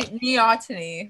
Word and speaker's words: Neoteny: Neoteny. Like, Neoteny. I need to put like the phonetic like pronunciation. Like, think Neoteny. Like your knee and then your knee ought to and then me.